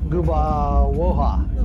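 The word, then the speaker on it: Gubałówka: That L with a little cross over it is pronounced with a W sound.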